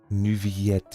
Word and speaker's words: Neuvillette: Neuvillette ist die original französische Aussprache.